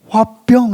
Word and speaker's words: 화병: DSM5에 화병 이렇게 HW에 B 해갖고 화병 이렇게 됐다고요. 한국 발음 그대로 이게 등지가됐어요.